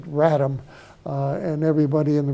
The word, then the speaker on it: RATM: Article 19 it says ratm we all pronounce it Ram uh and everybody in